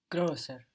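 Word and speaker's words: größer: two points grosser so to find the pronunciation of that o with two dots on it the o with the umot where do you look back to to be sure bird bird and there you're short you have the right pronunciation there with bird so we got to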